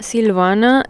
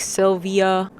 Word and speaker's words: Silvana: Silvana in Spanish, but in English it just gets lost in a it gets lost in this weird like pronunciation tongue twister thing. And it's not even I don't think it's that long or hard to pronounce name, but it's just like when teachers would just read it out loud and add extra letters or shorten it like Sylvia.